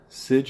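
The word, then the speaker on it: Sejic: Linda Sidge, I believe they told me is how you pronounce that last name.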